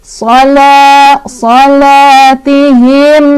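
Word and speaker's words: صَلَاتِهِمْ: Ada izhar syafawi, sebabnya karena ada mim sukun bertemu dengan huruf sin. Dibacanya mim sukunnya jelas, nggak boleh mantul, nggak boleh ditahan. Salatihim sa gitu. Jangan salatihim salah atau salatihim, jangan ya, lepasin aja. Salatihim sa mad tabi'i karena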